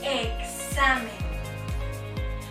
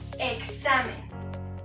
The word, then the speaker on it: examen: Esta X puede pronunciarse como una K seguida de la consonante S. Examen.